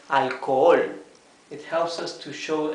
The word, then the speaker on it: alcohol: Alcohol. For alcohol. Here also the H has one function. The H is completely mute, but it indicates that these O's should be pronounced, both of them, right?